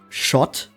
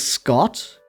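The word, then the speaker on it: Schott: Like if I read it in German, I would pronounce it as shot, which also still fits because Scotland in German is called Shotland. Uh, but I chose to pronounce it as Scott because like you have the sc in in words like school too.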